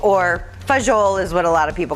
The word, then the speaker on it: fagioli: So we are ready to enjoy our pasta fagioli or fagiol is what a lot of people call it, but fagioli is the correct correct pronunciation in Italian.